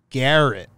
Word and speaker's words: Gerrit: for Gerrit Cole now Baseball Reference is telling me to pronounce it Garrett and I kind of